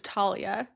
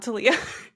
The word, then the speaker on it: Talia: just want to say my name is Talia not tiia oh T thank you